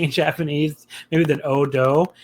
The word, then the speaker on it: Oudou: Japanese maybe than Oudou, because it looks like a word like you pronounce a certain word a certain way in English, and it's not that, like you think you're supposed to say like Ojo or something, but like it's obviously not Japanese.